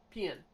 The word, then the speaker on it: Pian: name pachan pien Pian like I'm pronounced like peon okay peon I'm just